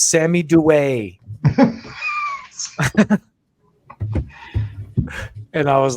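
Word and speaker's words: Duet: should pull this up, but I said Sammy Do It when I was talking about Sammy from Acid Bath, and these people in the comments are like, no, it's Sammy Dewey.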